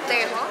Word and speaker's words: Tejo: Tejo.